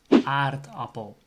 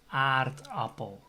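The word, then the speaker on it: aardappel: of the a uh an example is potato in netherlands is art apple so the word starts with a double a so it's automatically ah and the third a is pronounced as ah because there's a double consonant the double p after that a so it's art apple so remember if the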